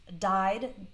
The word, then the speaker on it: dye: dye that's deep ye pronounced exactly the same as dye like not be alive but died a ye means to